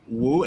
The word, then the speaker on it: Wu: cool and we have a fantastic guest Helena woo am I pronouncing that correctly yeah that's perfect yes how